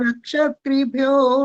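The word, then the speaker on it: रक्षितृभ्यो: रक्षत्रिभ्यो अभी नमः। भी नहीं आया। रक्षी, पहले इतना बोलो, रक्षी। रक्षित्रिभ्यो नमः। ठीक है। क्ष में छोटी की जो मात्रा है उसका भी उच्चारण आना चाहिए। और एक बार शुरू से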